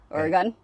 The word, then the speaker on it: Oregon: I mean, I want to go up into Oregon. Oregon.